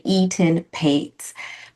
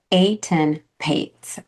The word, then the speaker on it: Etan Patz: I used to say Etan Patz, but it is really Etan Patz, Etan Patz.